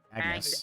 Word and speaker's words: Agnes: Agnes is it Agnes? Agnes. Agnes. Agnes. That is how that name is traditionally pronounced. Bravely Default or whatever game you've heard it from is weird. I believe they're Try- using the Japanese pronunciation.